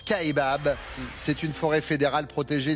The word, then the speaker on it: Kaibab: Oui, d'ailleurs les Américains prononcent Kaibab.